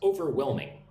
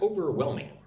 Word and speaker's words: overwhelming: Try to break down the task into smaller parts so it feels less overwhelming. Look at the word overwhelming. Overwhelming. Overwhelming. Put the emphasis on the third syllable. One, two, three.